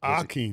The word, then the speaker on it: Hakeem: he was Hakeem right Aki iak he was Aki Minh and you know the H is silent so he probably said Hakeem but nobody really heard no just a lot